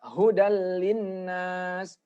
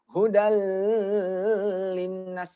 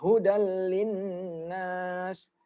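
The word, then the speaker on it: هُدًى لِّلنَّاسِ: itu Coba ini juga hudallinnas hudallinnas tidak boleh hodl Timnas salah itu yang betul hudallinnas atau ini contoh berikutnya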